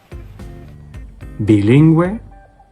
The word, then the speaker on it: bilingüe: And if you see that after a G, then the U would not be silent. bilingüe, vergüenza, So for GUE,